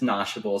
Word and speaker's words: Noshable: no no nothing just one word shop NOS notable do I even pronounce it correctly by the way you're good it's it's notable so nsh is like a Yiddish slang term